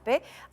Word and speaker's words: sape: I did not know the name you pronounce it as sape.